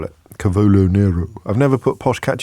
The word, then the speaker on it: cavolo: do you know I put how do you pronounce it again carolo Cavolo I put I put Cavolo Nero in my